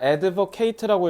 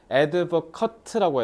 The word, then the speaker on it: advocate: 자, 일 잘 보면 자, advoc케ate라고 읽으면 동사돼 버려요. 그러면 옹호하다가 되고요. 근데 여기는 지금 더 붙었으니까 명사잖아. Advocut라고 해야 돼. advocate advocut야.